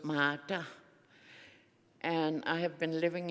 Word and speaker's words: Martha: All across Nunov it's pronounced mata. Um we don't have an h initut uh salabics so it's mata.